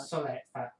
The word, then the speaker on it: Soleil: Raider in Foster Ire Soleil? Solette? Soleil or Solette? I'm going to French, aren't I? Solette. Solette. They're not French. You actually pronounce all the words, letters.